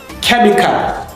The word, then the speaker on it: chemical: Number 15, chemical. This H is silent.